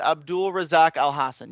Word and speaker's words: Abdul Razak Alhassan: de shariko uh rezak is that how you pronounce it abdul razak alhassan yes i got that correct alhassan has a